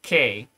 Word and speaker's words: Quai: Quai or they pronounce it K and it means like